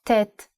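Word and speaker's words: טית: The ninth letter of the Aleph Bet is Tet. It has the sound of T. Let's write it. The handwriting of Tet is...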